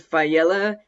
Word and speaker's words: Faiella: to introduce Mr Aiden fella did I say your name correct yes thank you I'm excited to be here even more excited that you pronounced it right that's exciting than you